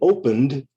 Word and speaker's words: opened: In opened, the ED sounds like D. Open is two syllables. Opened is also two syllables. The E is silent. You don't say the E.